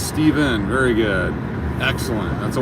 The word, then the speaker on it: Stephen: silent n so stephen is it steven or stefan i get called everything you get stefan stephen sometimes they don't even try to pronounce it my youngest son was named after